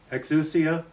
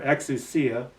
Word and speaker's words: exousia: Yeah, well, the Greek word is exousia, or exousia, depending on how you want to pronounce it.